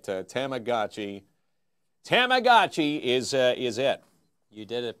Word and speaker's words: Tamagotchi: Doesn't matter how you sell it or spell it, it's how you pronounce it, right? Tamagotchi. Tamagotchi is it.